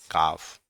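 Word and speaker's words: calf: काफ palm palm तो ये सारे ऐसे वर्ड हैं जो आपके दे रखे हैं।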